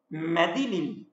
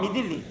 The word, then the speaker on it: Midilli: Müttecietin bu kayık yönelikti cezeti medilil medilili o medilinil yani adasına medilil bir ada duydunuz mu yoksa biz yanlış mı telaffuz ediyoruz? Yok midli adası var. Ha Midilli Midilli adasına eee bile yöneliyordu.